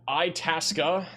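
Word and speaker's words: Itasca: Itasa. That's definitely how it's pronounced.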